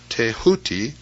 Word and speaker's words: Thoth: scribe of the gods Thoth pronounced teh hootie the so-called Emerald Tablet